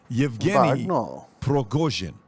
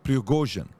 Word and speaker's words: Yevgeny Prigozhin: Number one, the guy behind Wagner Group is a guy, and I want to pronounce this correctly. Yevgeny Prigozhin, okay? Prigozhin, that's his name. Yevgeny Prigozhin.